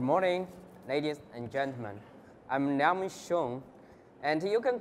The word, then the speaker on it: Liangming Xiong: I'm Liangming Xiong, and you can call me, because Liangming Xiong is very difficult for pronunciations.